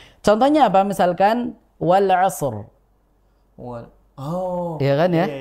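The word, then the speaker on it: والعصر: kan i i ya Sehingga di situ kita bacanya rnya tebal Wal asr bukan walasr Wal asr meskipun di ayat ini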